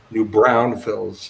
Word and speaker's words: New Braunfels: a New Braunfels Texas new brownfields is actually how you say it but it's a German